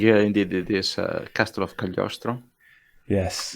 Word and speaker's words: Cagliostro: Am I pronouncing it correctly, Gab? Yeah, I think indeed it is Castle of Cagliostro.